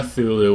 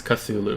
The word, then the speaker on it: Cthulhu: Not so- Cthulhu, which is how I used to say it. It's Cthulhu. Cthulhu Calamari. Cthulhu It's Calamari. a really good name, that. Cthulhu Calamari.